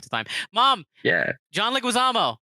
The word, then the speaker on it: Leguizamo: she loves john lewis this is john leguizamo right that's where he pronounces it it's john leguizamo thanks mom shout out